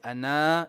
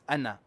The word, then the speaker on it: أنا: However, this word, ana, it is universal. This is, no one will ever say ana in any copy of the Quran. It is ana.